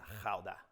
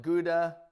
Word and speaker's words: Gouda: and my personal favorite is howda and for those who are dutch you just know i said it right you can call it gouda or gauda and i just happen